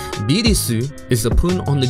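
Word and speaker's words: ビルス: Beerus, or his Japanese pronunciation, Birisu, is a pun on the German word for virus.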